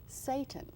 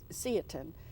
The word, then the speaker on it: seitan: Something that I had read about and had no idea what it was is seitan, or seitan. And how do you spell that?